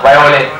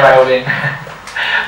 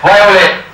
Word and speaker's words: violet: อ่าน ว่า อะไร อ่า Violet ไม่ ใช่ violent Violet นะ ครับ หรือ คุณ ครูา สั้น